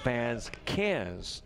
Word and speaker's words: Vasquez: guide by the way Vasquez is bads cans definitely want to get